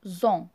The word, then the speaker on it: ont: كيف ما لاحظتوا نطقتها زون، ولكن كتكتب فقط اون، او ان تي. الصوت اللي كنسمعوه ديال زون، زد، هي فقط لا ليزون ما بين لو برونوم بيرسونيل وما بين لا فويال.